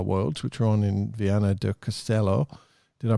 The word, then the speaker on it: Viana do Castelo: So, the Formula Kite uh Worlds, which are on in Viana do Castelo Did I pronounce it even close there, BP? Viana do Castelo.